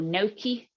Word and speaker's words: gnocchi: i found um pumpkin now is this pronounced right noki or gnocchi you know the little potato pasta type thing yes it was gnocchi so instead of potato